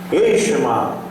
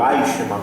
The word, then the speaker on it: Eichmann: ditador da União Soviética, Eichmann, tenente-coronel do nazismo, ou Eichmann, melhor dizendo é a pronúncia, Hitler, ditador nazista, e Benito Mussolini, o Duce da Itália.